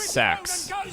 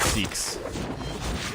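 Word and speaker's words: Seax: The new, oh yeah, you guys finally told me how to say it's Sax. It's not Seeks.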